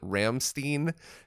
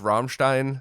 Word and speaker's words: Rammstein: I used to call it Ramstein instead of Rammstein.